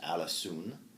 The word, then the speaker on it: Alisoun: In Middle English, it's pronounced Alisoun.